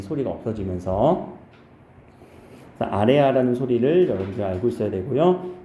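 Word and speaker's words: ㆍ: 아래 아라고 읽으면 돼요. 글자 이름이 아래 아예요. 근데 이 아래 아의 소리는 실제 아 소리와 어 소리의 중간으로 내면 돼. 아 소리와 어 소리의 중간음. 아, 이 소리야.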